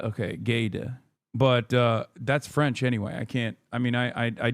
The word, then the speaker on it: Guesde: It's pronounced like Gede, not Gesde. Okay, Gede.